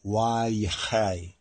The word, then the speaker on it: Vayechi: modern Hebrew as Vayechi or Vayechi, or really Vayechai, Vayechai, really Vayechai, Vayechai.